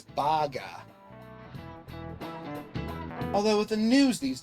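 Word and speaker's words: バーガー: It's not short in Japan, it's baga.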